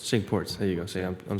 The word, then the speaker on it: Cinque Ports: My dad and I played, and I'm gonna butcher the pronunciation. Royal, is it Cinque Ports? Cinque Ports. Cinque Ports.